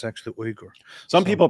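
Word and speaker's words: Uygur: but that's not how it is it's actually uger some people pronounce it yog and they call him yogurt chunky yogurt we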